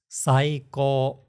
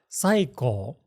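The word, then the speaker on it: 最高: You're saying it with the accent at the beginning. It's not saiko, it's saiko.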